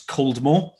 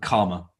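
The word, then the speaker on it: Caldmore: of it called that's You' see it written down it's cmore but that's no one calls it that it's called karma no idea why just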